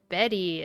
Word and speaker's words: Bette: that the character's name is pronounced Bette, it turns out.